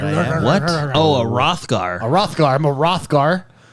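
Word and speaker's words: Roegadyn: I'm a Ruggerere. I don't know how to pronounce the race that I am. What? Oh, a Rothgar.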